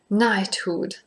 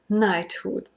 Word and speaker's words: knighthood: the pronunciation so because it is written with a k and an n but it is pronounced like n like night knighthood so there are